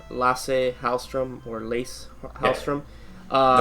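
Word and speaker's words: Lasse: to butcher his name lass halstrom or lace hrom um no it's lass lass that's the way it pronounces it at least on on Google yeah and uh he's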